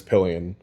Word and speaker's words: Pillion: We keep getting confused as to how to say it, but it's Pillion.